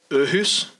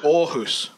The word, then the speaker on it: Aarhus: Aarhus? Is that Aarhus. even close? Aarhus.